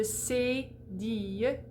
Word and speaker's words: cédille: So the cédille has an accent aigu over the top. It's going to close it right up.